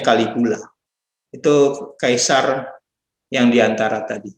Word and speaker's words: Caligula: Namanya tulisannya Caligula, bacanya Caligula.